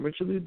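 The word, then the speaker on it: Richelieu: them but the individual richo and I believe that's how you say his name richelo Dennis I think people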